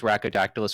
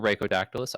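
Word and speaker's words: Rhacodactylus: Uh so my name is uh well my Twitch handle is raodactylus or raodactylus. Either pronunciation is fine.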